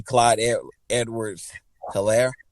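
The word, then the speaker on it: Clyde Edwards-Helaire: backfield man you know you have the rookie clyde edwards hilaire i believe i said it correct you said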